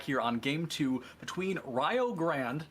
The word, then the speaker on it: Rio Grande: on game two between rayo grand not rio grande i promise we are not saying it wrong it is pronounced ryo grand versus springfield map one